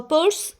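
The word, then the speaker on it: Peirce: thing is that introduction who was Charles Sanders purse. So he uh pur it is pronounced as pur and he lived from 1839 to 1914.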